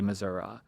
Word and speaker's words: Missouri: state or only certain kinds of people say Missoura one that I just came across was really